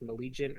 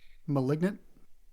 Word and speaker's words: malignant: Like malleent or something like malagent items like malignant.